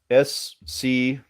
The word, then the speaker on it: Schuyler: S-C-H-U-Y-L-E-R. She's got him. She's got him. All right. And it's pronounced Schuyler, but that's how it's spelled.